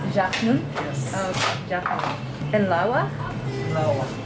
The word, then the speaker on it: Jachnun: But I think I'm also gonna get a mini yanun too. And can you make like a vegan one? How do you pronounce it? Jachnun. Jachnun?